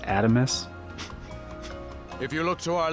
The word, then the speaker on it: Adamas: Allow me to express my gratitude to you for sailing with us on the Adamas today. It's pronounced Adamus.